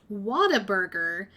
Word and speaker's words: Whataburger: to eat it's pronounced Whataburger with a very faint R in the water okay I'm not pronouncing